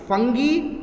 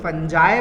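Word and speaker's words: fungi: कोई लोग फंगी बोलते हैं, कोई लोग फंजाए बोलते हैं, कोई लोग फंगी बोलते हैं, तो ये तीनों ही प्रोनाउंसिएशन गलत नहीं है।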